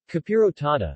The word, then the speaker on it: capirotada: capirotata spanish pronunciation kapiota formerly known as caperota de vigelia